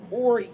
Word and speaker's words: Horry: cat brawl I live in a county called Horry County the winning ways I don't know some years ago it's posted up somewhere that's why I kept calling it Horry County and then I went to um Horry County and then I find out if you